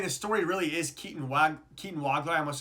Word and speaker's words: Wagler: You would think it's Swagler with the way it's spelled, but it's Wagler.